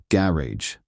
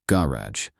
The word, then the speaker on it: garage: In American English, people often stress different syllables compared to British English. Let's take a word like garage. American garage. British garage.